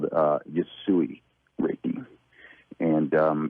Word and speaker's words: Usui: Usui. Usui.